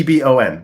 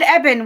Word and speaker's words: Ebon: Well, you said Eban, which is how you pronounce my last name. So, I was like, Ebon. Ebon spell. If you like Ebony without the Y.